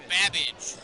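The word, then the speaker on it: Babbage: 30 seconds your buzzers the letter B is in babage which is something that rhymes with cabbage I got your rection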